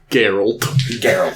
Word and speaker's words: Geralt: yeah i'd say like the stuff with uh geralt is that how you pronounce his name it's geralt okay i'd say like his stuff in the